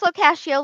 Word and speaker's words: Locascio: That's Locascio like pistachio.